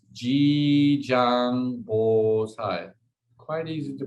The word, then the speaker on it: Jijang: one so jijang gosai is it's called it's g zhang quite easy to pronounce j i j a n g b